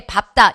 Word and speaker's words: 밟다: 그리고 정말 중요하게 말씀드린다고 한다면 얘 있죠? 얘 밥다 얘가 제일 잘 나와요. 왜요? 생각해보세요. 잔디를 밟다 이거 같잖아요. 근데 뭐라 그래야 된대요? 잔디를 밟다 이래줘야 된대잖아요.